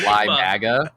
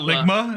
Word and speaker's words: Limaga: Card is pronounced Limaga. Oh, not Ligma.